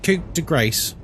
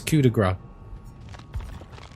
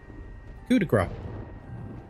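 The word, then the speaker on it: coup de grâce: Cuz that's not how you pronounce it. It's cudigra. It's French. No, it even has a even has an accent over the a cudigra.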